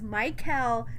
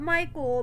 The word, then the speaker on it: Mikhael: Ayesha and Mikhael from this new season of Love During Lockup. I gotta hammer it into my head that his name is Mikhael, not Michael, because you guys already